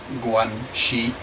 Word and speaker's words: guanxi: If they have no guanxi, pronounced guanxi, that is relations with someone, then the probability